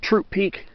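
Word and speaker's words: Throop Peak: mountains Sadie Hawkins middle Hawkins mount Hawkins has troop peak it's spelled th Roo P was supposed to be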